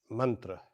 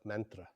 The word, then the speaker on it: mantra: I'll use the Sanskrit pronunciation of mantra instead of mantra, as people are generally used to.